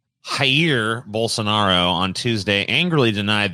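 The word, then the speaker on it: Jair: pronounce this first name is it just jer i think it's higher high okay higher bolsonaro on tuesday angrily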